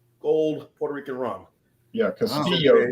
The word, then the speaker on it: Castillo: Puerto Rican run yeah Castillo they pronounce it Castillo Castillo Castillo yeah just that the two L's make a a y sound like yoyoo Caso remember C the